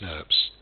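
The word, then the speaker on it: snRNPs: The spliceosome is composed of 5 individual small nuclear ribonucleoproteins, pronounced SNRPs, which comprise both RNA and protein components.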